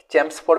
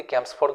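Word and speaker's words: Chelmsford: कर home rule मूवमेंटा then आसीगला आम Lord चैम्सफोर्ड भी या प्रोनाउंस करती कैम्पसफोर्ड भी केते लोग करती मु तो या लॉर्ड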